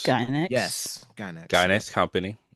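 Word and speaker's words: Gainax: I want to say Uh, it's pronounced Gynex. Guy next.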